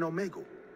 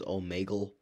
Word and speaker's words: Omegle: I almost got up in a rush and said, yes, I met him in Omegle. But how do you know? Bro, did you just pronounce it as Omegle? It's Omegle.